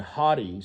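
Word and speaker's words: haughty: Pellet said and hottie spelled like h a u g- ht y means like arrogant and he was definitely that but he he had made some good points.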